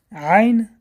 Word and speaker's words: Айн: Айн образуется в середине части горла.